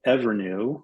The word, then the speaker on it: EVRNU: I'll give you another example of a company that's called Evernew, which is spelled EVRNU.